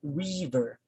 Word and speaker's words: river: The next one is usually we pronounce this as river, river. But if you're just going to pronounce it correctly, we say river, river. So you notice that the first syllable stands out.